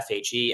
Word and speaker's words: FHE: have a chain called Phoenix uh here Phoenix spelled with an fhe fhe is also an acronym for fully homomorphic